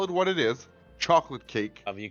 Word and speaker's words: chocolat: How do you pronounce that last word? Chocolat? You pronounced the T, didn't you?